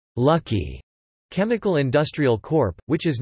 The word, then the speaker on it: Lak-Hui: Gold Star was one of the LG groups with a brethren company, Lockway, pronounced Lucky Chemical Industrial Corp, which is now LG Chem and LG Households.